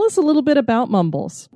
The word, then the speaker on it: Mumbles: Now, is this pronounced Mumbles? Mumbles, yes.